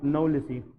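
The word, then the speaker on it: knowlesi: और आजकल एक नई किस्म आई है, इसको हम कहते हैं प्लाज्मोडियम, इसमें के साइलेंट है, दैट इज कॉल्ड प्लाज्मोडियम नवलिसी।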